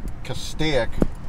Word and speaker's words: Castaic: Valencia Travel Village in Castaic, California.